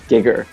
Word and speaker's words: Giger: Yeah, the pronunciation of Geiger in Japanese is Giger. Oh, okay. She was like, oh yeah, Giger. Makes sense. 名前が一致しました。はい。 Some people say it that way here too.